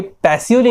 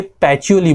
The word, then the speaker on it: Pacioli: पे H नहीं है, आप पैचोली क्यों बोल रहे हो? बिकॉज गाइज ये इटली से बिलोंग करते थे एंड इटली में ये पैसियोली नहीं बोलते, ये पैचोली बोलते हैं।